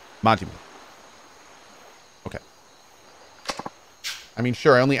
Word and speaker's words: Majima: The Jima in Seijima and Majima are both pronounced the same, soft eyes. Seijima, Majima.